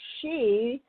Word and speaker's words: Sidhe: As you know, it's Marilyn at Super Soul Solutions, and the Fae, Fairy Elvens, and She, which is spelled Sidhe, and I would like to personally thank you for joining in today.